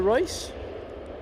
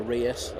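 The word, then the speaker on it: Reus: The 737-800's off to Royce, or Rius, I've been told to say, by Michael. Michael told me I've been saying it wrong.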